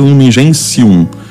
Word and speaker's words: Lumen Gentium: Por isso se escreve Lumen Gentium, mas se pronuncia Lumen Gentium. O T em latim tem som de C. As primeiras palavras: Cristo é a luz dos povos. Lumen Gentium.